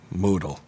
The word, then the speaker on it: modal: Note: modal is pronounced modal.